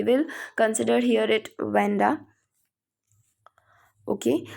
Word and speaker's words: Wanda: उसका आप शायद कुछ और नाम से भी प्रोनाउंस करते होंगे आप शायद, बट we will consider here it वेंडा।